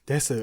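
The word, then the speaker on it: です: And we all know Japanese desu is actually pronounced des, so it sometimes is written with a small su.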